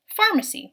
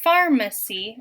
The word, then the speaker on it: pharmacy: greek word so then the f sound at the beginning will be represented with a ph the ph let's look at the syllables and let's spell each syllable one at a time so the syllables in pharmacy are farm c farm c so let's spell the